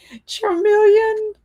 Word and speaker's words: Charmeleon: And Cat is right about the pronunciation. Charmeleon.